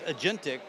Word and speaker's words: agentic: It's agentic because you've got actual action being taken. I like the fact that it fills out the ticket for you. Yes, yeah, it's agentic under the hood.